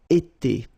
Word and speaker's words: été: that will repeat itself every time, and it's pronounced like été, été.